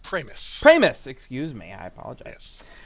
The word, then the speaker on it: Pramas: at premis p r m right uh it's pronounced pris pris excuse me I apologize uh he's on